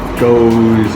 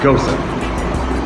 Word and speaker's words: Gose: ghosa um go so that's the way it's pronounced a lot of people will say uh goes or goose gooeys is something different but uh yeah this is actually pronounced ghosa um we're brewing a ghost today obviously we're